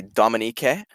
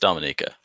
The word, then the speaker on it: Dominique: schlitz um oh uh a dominique who is yeah you can let me know a dominique or just dominica uh dominica so it's d-o-m-i-n-i-q-u-e perfect uh she is